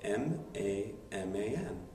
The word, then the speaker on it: maman: Mama spelled M-A-M-A-N. But don't pronounce the M, mama.